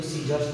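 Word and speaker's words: scissors: Science में सी एस के बाद आ रहा है, इसीलिए यहाँ पे सी साइलेंट हो गया। इसको साइंस पढ़ेंगे, उसी इसको सीजर्स पढ़ेंगे, इसको डिसेंड पढ़ेंगे, इसको फैसिनेट पढ़ेंगे, इसको सेल पढ़ेंगे, इसे सी पढ़ेंगे।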